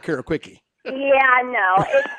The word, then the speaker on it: Quici: It's Italian, so it's Quici. Quici. That's in the middle. Quici. Like the CI is pronounced like CH.